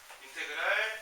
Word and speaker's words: 인테그랄: 그 다음에 요 앞에 요 지렁이는 인테그랄이라고 읽어주시면 됩니다. 인테그랄 fx dx는 라지 fx 더하기 적분 상수 이런 모습으로 쓸 수가 있습니다.